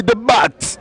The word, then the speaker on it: Dabat: Faut prononcer le T comme chez les Allemands là. MB Dabat.